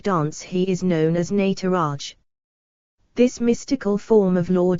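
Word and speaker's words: Nataraja: Shiva is known as the nataraj pronounced as nut Raj the word nut means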